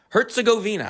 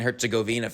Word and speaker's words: Herzegovina: Herzegovina, I believe.